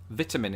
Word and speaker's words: vitamin: but i do but the biggest difference here of course is how we pronounce the first i in the word so as you heard